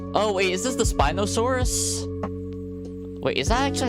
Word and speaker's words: Spinosaurus: It's pronounced like spy. Oh, like Oh, wait. Is this the Spinosaurus?